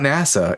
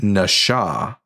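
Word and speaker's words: נשא: actually Hebrew for deception, tell them no, it's not NASA, it's Nasha. Mostly because of this right here. This little dot above the letter, the middle letter here in Hebrew, turns this letter into a shen and is pronounced as an SH.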